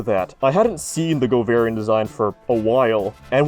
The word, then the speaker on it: Govarian: is a bad name if you pronounce it govarian like a yellow boy i think it's fine